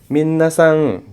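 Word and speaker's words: 皆さん: Dan kalau N ada di belakang dibacanya eng. Minasang gitu ya, minasang.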